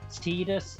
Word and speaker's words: Tidus: Yeah, it's that common scenario of Tidus or Tidus. Either way, in my opinion, as long as it doesn't change the spelling, I don't care. I've heard In it the pronounced games, two different times, and I still it's don't actually know how it's canonically. In the games, it's canonically Tidus, and you can tell it through 2 reasons.